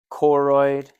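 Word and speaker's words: choroid: Coroid rhymes with exis plexus.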